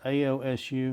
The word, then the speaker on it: AOSU: they suggested the AOSO, I think that's being pronounced right. Yeah. You think? AOSO. It's AOSU.